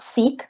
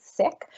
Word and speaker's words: Sikh: that's si KH not seek that's not how we pronounce it actually it's sick so the Sikh community